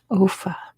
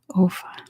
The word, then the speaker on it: Offa: Not Bofa. Offa. I assume that's how you pronounce it. Offa.